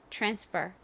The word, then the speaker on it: transfer: 발음해 볼까요 transfer transfer 좋습니다의 바로 뒤에 R 와서에 티 소리에 살짝 치우 소리가 섞인다고 말씀드렸죠 transfer transfer 이렇게요 자 같이 적어 볼까요